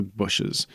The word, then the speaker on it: bushes: It's more like the word pushes. The bushes and trees and plants and flowers part of nature, right? The bushes.